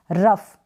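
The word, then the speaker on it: rough: ये है रफ, क्या है, रफ, जी एच को फ पढ़ेंगे, आर को र, और ओ यू को अ के रूप में ही पढ़ेंगे, और जी एच को क्या पढ़ेंगे, रफ, ठीक है, रफ, रफ। ओ यू का उच्चारण नहीं हो रहा है और वैसे आप इसको अ के रूप में प्रोनाउंस कर रहे हैं आर के साथ, रफ।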